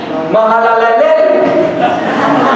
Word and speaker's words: Mahalalel: Mahalalel, en un hebreo bien pronunciado, Mahalalel tuvo a Jared, y Jared tuvo a Enoc, séptimo.